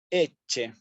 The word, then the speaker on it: ecce: Y la siguiente palabra, eche. Eche. ¿Sí? Especialmente, al igual que la C con la I, la C con la E la pronuncio como una che. Eche.